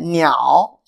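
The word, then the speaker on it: 鸟: Niao. Yeah. Yeah. Yeah. See? The, yeah. So the pronunciation, yeah. The tone part, yeah. Has meaning. Yeah. Yeah. How to this pronunciation is niao. Niao. That's a niao.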